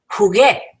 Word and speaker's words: jugué: So we add in a U to make it jugué and maintain that G sound of jugué.